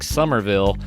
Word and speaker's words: Somerville: That's Carl Mandrioli and Somerville. Now, what I like best about thus far is that the last syllable of his last name and the last syllable of my last name match up.